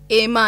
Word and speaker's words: एमा: मेरे नाम का मतलब है, एक तो इसकी प्रोनाउंसिएशन बहुत गलत करते हैं। अच्छा, मैं भी गलत तो नहीं करी थी? नहीं, आप सही कर रही हैं। अच्छा, एमा है, काफी लोग मुझे आयमा कहते हैं और इसका मतलब है रोशनी।